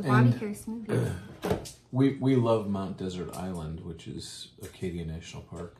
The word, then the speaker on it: Mount Desert Island: care smoothie we love Mount desert island which is Acadia National Park that's the in Maine and it's the same word desert some people pronounce it dessert but they're spelled the same it's very good no